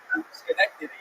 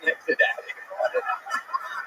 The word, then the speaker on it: Schenectady: And then not exactly pronounced Schnectadad. But I like the way Ari says it, so we're gonna stick with it.